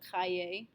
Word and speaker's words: cahiers: We don't pronounce the S, it's un cahier, deux cahiers.